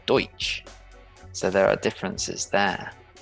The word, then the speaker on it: Deutsch: gertrude something like that german is our way of saying the language of the germans but to them it's deutsch so there are differences